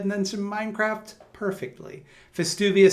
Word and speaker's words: Festuvius: F. Not V. F. Festuvius. Like festive, but uvius.